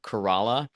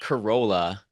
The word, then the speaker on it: Corolla: what they read like there's this place called Corala but it's spelled like Corolla so if you say the word Corolla they know you're not from around there and they just immediately